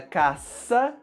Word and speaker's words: caça: som forte cá côco Então se queremos escrever a palavra caça com esse som da letra S A única opção é utilizar um símbolo especial que é exatamente o c cedilha e é por isso